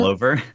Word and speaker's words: Glover: Donald Glover? It's like Clover, but with a G.